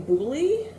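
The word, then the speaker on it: Boulley: this with people uh firekeeper's daughter by angeline booley that's how you pronounce it and i did this is the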